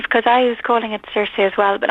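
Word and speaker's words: Circe: I was calling it Cersei as well but I believe in Greek you have to pronounce it kir yeah and um yeah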